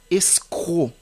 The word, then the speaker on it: escroc: amis le mot escroc le mot escroc même si il y a la lre C qui termine le mot l'orthographe étant e s C r o C vous n'allez pas dire escroc non c'est escroc la lettre C est muette il y a également